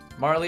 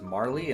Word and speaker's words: Marle: I think I think Marl is the right way to say it. Um, but as like a 10-year-old kid, I definitely read it as Marley, and that's just what stuck. But I I do think it's Marl, actually.